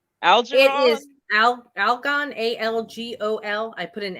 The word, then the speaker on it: Algol: i start again algae it is al algon a l g o l i put an n in it so algol okay spell it again a-a-a-l-g-o-l algol that's funny your pluto